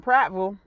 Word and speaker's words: Prattville: But they got another Bath & Body Works in Prattville, that's how you say it correctly.